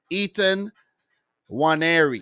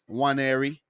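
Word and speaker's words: Nwaneri: Ethan Waneri. I think the N is actually silent. Ketia Waneri.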